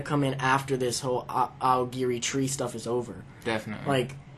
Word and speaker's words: Aogiri: I can't pronounce Agiri, it. I think it's Agiri. Uh-huh. Aogiri.